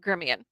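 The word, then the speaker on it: Gremillion: see if i can pronounce his name correct gremilian no germian gremion i always mis pronounce it but it's spelled gremlin but it's pronounced gremion so john i got it right this time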